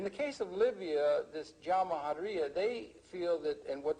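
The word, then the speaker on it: Jamahiriya: You'll hear Colonel Gaddafi talk about the Jamahariya, pronounced Jamahariya, which roughly translates, in an Arabic term, which roughly translates out the state of the masses.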